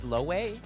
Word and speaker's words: Lope: Lope is pronounced similar to Loe. What? It's not pronounced L. It's Loway.